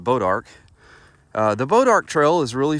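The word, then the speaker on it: Bois d'Arc: was saying it wrong y'all I was saying boys to Arc but I looked it up and it's actually pronounced bodark the bodark trail is really fun um after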